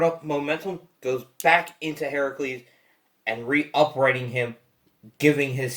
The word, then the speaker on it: Heracles: We're using the correct pronunciation of Hercules, which originally is Heracles. That's why we're saying. From the Hercules is from the Roman mythos, which is usually an incorrect translation. The Greek translation is Heracles.